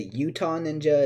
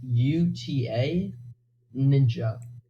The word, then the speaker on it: utaninja: since I'm allergic out and how do you pronounce your name is a Utah ninja is it Buddha ninja Adonijah so the versions of people think it is is Bhutan ninja Utah it's from David you know what I